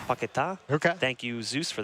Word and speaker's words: Paquetá: Actually, by the way, I was told it's Paquetá. Paquetá.